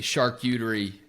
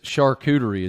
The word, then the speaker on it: charcuterie: Another thing that I got to unpack here is charcuterie. Is that how you say it? Charcuterie. It's a U, not a ooh.